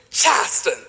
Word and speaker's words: Charleston: and sightseeing throughout chastain now that's how gully gichi speakers pronounce the word chaston not charleston mine is a living